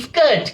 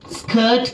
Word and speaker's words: skirt: ගොඩක් අය කියයි skirt කියලා. It's wrong. යන්නක් එනවා නම් ඔයාගේ උච්චාරණය කියන එක pronunciation කියන එක හරි නැහැ. It's not good. එහෙනම් මේක skirt කියලා වෙනස් වෙන්න ඕනේ.